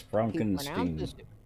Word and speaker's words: Frankenstein: Young Frankenstein. Yes, Frankenstein. He pronounces it Frankenstein, but it's Young Frankenstein. Yes. It is Young Frankenstein. There's a difference.